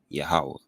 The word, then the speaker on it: Yahawah: hold fast that the Most High's name is pronounced Yahawah and his son's name Yahawashi.